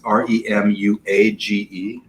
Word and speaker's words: remuage: Do you know how to pronounce this? It's Remuage.